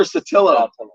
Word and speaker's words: Saltillo: Is it Saltillo or Saltillo? Saltillo.